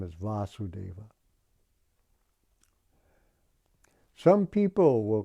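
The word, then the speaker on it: Vāsudeva: son of vasudeva therefore his name should be vasudeva as well as krishna with a long a just like there's a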